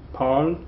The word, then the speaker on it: parle: These 4 endings actually sound the same. They're all silent. Okay, don't pronounce those at all. Parle, parle, parle, parle. They sound exactly the same.